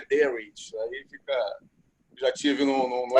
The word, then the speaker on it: Darwich: É igual a Greenwich Sandwich, entendeu? Eu nem pronuncio direito. Falar com o inglês mesmo é Darwich.